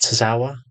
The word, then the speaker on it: Tozawa: I mean, the way that the way he's actually messed about with Alpha Academy in the sense of he's put is it Tozawa?